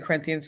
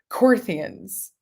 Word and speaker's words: Corinthians: they're mispronouncing they're like instead of corinthians they're like corthians and they're just saying it like they like they know it